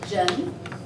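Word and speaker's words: 人: Esta es Zhen. Zhen. Es así. El segundo tono, Zhen. Este es como, se pronuncia como R.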